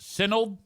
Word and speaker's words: synod: Adam says it's pronounced synod.